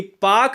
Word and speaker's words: Palk: है, यह पाक जलसंधि PALK को हम पाक कहते हैं। ठीक है ना, इसमें यल साइलेंट होता है।